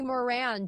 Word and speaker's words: Moran: Uh Terry Moran, who you could pronounce that I guess, but no, it's Moran.